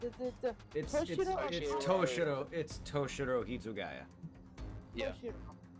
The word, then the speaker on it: Toshiro: Toshiro. Yes, toe, like your foot.